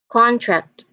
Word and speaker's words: contract: And then when we stressed the second syllable of the word, that particular word will also be considered as a verb.